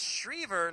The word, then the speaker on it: Shriever: a direct message saying it's shriever like fever and uh I'm sure